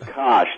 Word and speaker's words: Koch: No, the Koch, the libertarians who funded Cato and the Tea Party. Yeah, but they pronounce the name Koch.